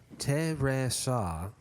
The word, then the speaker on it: Teresa: So Fred has in the notes, Teresa, and I wasn't sure what that was. It took me a second. Oh, that's how you pronounce her name, Yeah. It's pronounced the Portuguese way.